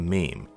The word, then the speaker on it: meme: Mimme comes from a suitable Greek root, but I want a mono syllable that sounds a bit like gene. I hope my classist friends will forgive me if I abbreviate mimme to meme.